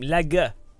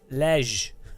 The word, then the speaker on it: Legge: How do you pronounce her name? Legge. Legge. Lej.